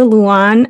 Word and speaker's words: Lewan: a wonderful guest amanda luon and and i feel like i'm always saying your last name wrong and it's say it for us no you did it right okay all right awesome